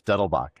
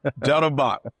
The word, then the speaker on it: Dettelbach: You're really close. Dettelbach. Dettelbach, Yeah. German, Dettelbach.